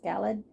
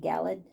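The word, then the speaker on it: Galeed: it is called galled I guess that's how it's pronounced galled g a l e d galled and then I got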